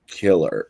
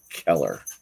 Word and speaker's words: Keller: the name at first it's not cold blood killer it's cold-blooded Keller play on words that's awesome